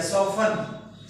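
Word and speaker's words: soften: एन आगे लग गया सॉफ्टन सॉफ्ट इसमें टी साइलेंट है सॉफ्ट ये होता है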